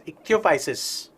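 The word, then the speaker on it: Ichthyophis: is the limb-less amphibian okay it's called it's pronounced as ichthyophysis okay eques got it see it's look a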